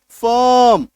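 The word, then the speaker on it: firm: देखिए क्या बन जाएगा, फ प्लस अ प्लस र प्लस म, फर्म। तो अ का साउंड आपको देखने को मिल रहा है, फर्म, फर्म। बोलिए, आप जोर से उच्चारण करेंगे आपको खुद सुनाई देगा।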